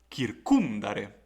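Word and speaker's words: circumdare: lere then we have the second word which is composed by four syllables we notice that the penal syllable is short and so the stress must fall on the previous syllable therefore the word will be read as kirkundare and the not for example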